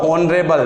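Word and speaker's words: honourable: और ऑनरेबल, Sachin is रिक्त स्थान ऑनरेबल मैन इन आवर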